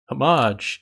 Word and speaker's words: homage: you reply just remember homage is spelt with an h and is silent and just like that